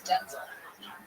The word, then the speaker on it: Denzel: It's Denzel. Denzel's his name. Denzel Washington. And the reason we Denzel, it's not because we're white, even whiter son.